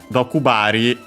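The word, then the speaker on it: 毒針: Dokubari, unaccented.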